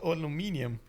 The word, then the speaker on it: aluminium: So what do we call aluminum or aluminium?